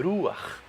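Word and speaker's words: רוח: Tudo bem? Você vê que puxa um pouco da garganta. Ruach.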